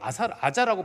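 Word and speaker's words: Gaza: 그런 것처럼 가자라고 하는 지명도 지금도 이거는 이 지역에서는 이걸 아자라고 부릅니다. 아자라고 부르는데 이게 이제 옮겨 적으면서 이제 영어로도 가자예요.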